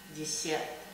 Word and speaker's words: десерт: And for desserts, we also have a very similar word. It's pronounced slightly different, but it's very similar. We say десерт.